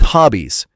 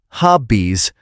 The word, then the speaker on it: hobbies: It is the same with hobbies. It is not hobbies, it is hobbies. Let's practice that voiced Z sound. It should vibrate in your throat.